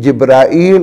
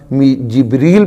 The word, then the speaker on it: جبرائیل: تو اسی طرح ہمارے ہاں اردو کے اندر چونکہ جبرائیل اور میکائیل جو ہے نا اس کا تلفظ مشہور ہے، تو جو بات مشہور ہو وہی کہنی چاہیے، وگرنہ جبریل پڑھنا بھی غلط نہیں ہے، ٹھیک ہے، اور میکال بھی.